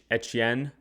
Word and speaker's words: Etienne: signed with the Saints saying that it's actually pronounced Achane or Et- Etienne.